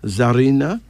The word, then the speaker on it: Zarina: beautiful Zarina Zarina z a r i n pronounce Zarina it is a SW female name meaning golden